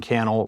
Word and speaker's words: Cannell: out on social media Sean Cannell rhymes with YouTube channel and uh s-e-a-n-c-a-n-n-e-l-l all